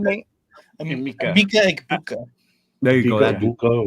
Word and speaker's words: Egbuka: Mika Egbuka. There you go. That Buka, whatever. Yes, something like that. Something like drop that. A bunch of vowels on the floor. Mika Egbuka.